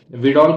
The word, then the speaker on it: Widal: Typhoid के ऊपर मे be confirmed by वाइडल test, विडॉल कह सकते हो, वाइडल कह सकते हो, जो तुम्हें प्रोनाउंस करना है वो तुम करना, लेकिन याद रखना WIDAL, ठीक है।